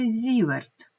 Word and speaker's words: зіверт: уже буде зіверт це є один з в читається зіверт на честь Швейцарського ученого який працював у галузі